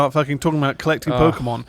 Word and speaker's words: Pokémon: News start talking about collecting Pokemon right next to 10 Dow Street it that's